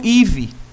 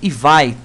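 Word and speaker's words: Ivy: O teste de sangramento, então, nesse caso, vai ser a prova de Duke ou IVE. IVE ou IVAI. Então, faz. Depende da pronúncia de vocês, mas eu costumo falar IVE.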